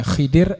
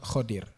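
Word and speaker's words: خضر: khodir ya khodir itu ada yang membacanya Khidir ada yang khodir dalam buku-buku yang saya baca itu lebih kuat khodir dan khodir ini ada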